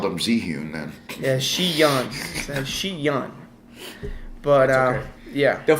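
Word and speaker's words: Zhiyun: Xi'an. I always thought it was Ziyun. I kept mispronouncing it. It's called Xi'an, and I was saying Cheyenne, and I feel like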